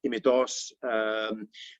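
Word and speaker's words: Υμηττός: Using modern Greek pronunciation, Mount Imitos, Pendeli, Parnitha, Egalio, each one with its own particular gift.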